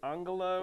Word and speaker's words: Angela: Justin, I could have I probably would have said Angela Merkel, which they pronounce it Angala, whatever.